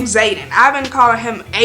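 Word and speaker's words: Xaden: character's name wrong Rocky I was pronouncing his name wrong is Zayden tell me why his name why is that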